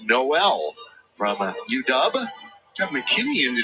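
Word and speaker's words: Nowell: and uh want to apologize to jalen noel for mispronouncing his last name it's noel from uw got mckinney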